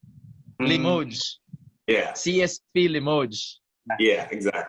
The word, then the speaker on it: Limoges: CSP Limoges. Limoges.